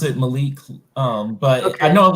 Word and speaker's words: Malik: name by the way is it Malik yeah pronounce it Malik but I know I'm like in Hindi is